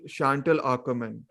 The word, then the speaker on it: Chantal Akerman: Chantal Akerman.